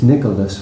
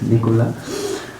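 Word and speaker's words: Nicolas: dam correct it's nicholas really but frank they don't pronounce the s so it's nicola and we're here with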